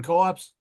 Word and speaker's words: Coops: Is that how you pronounce it? Not Allerton Co-ops? Yeah, it has, as our host, who's an expert on this, can say, it's pronounced. It has that odd pronunciation, Coops.